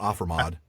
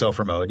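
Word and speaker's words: ofermōd: ofer mode right it's not offer mod I think it's ofer mode yeah yeah I think so those are long o somebody correct me I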